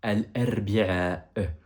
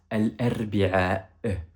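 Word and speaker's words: الأربعاء: Le mercredi, en arabe, on prononce ça al-arbi'a. Al-arbi'a.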